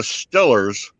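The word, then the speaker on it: Steelers: they got i mean the stillers which is how they pronounce it the stillers are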